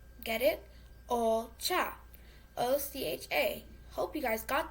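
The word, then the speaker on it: お茶: Ocha. Get it? Ocha.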